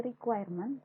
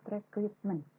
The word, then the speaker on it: requirement: Sederhananya, istilahnya dari requirement to specification. Ingat, ini requirement, not recruitment. Bacanya requirement, karena masih kebanyakan ada yang salah bacanya kalau tahapan-tahapan metodologi rekrutmen Bu. Padahal yang benar adalah requirement.